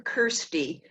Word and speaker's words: Kirsty: I don't think so the first syllable is curse so cursed so it's not